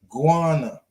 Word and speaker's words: Ghana: We all, when we see words, but it is really pronounced Ghana, guana, because the H, right? Because we just say Ghana, but it's guana.